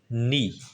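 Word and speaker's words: knee: नी, इसमें क्या साइलेंट होता है? नी घुटने।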